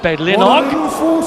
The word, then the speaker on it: Bedlinog: Well, I'm glad you've done your linguistics, because not only people can say Bedlinog, they say Bedlinog. Barry and his mates would love that pronunciation, Nige.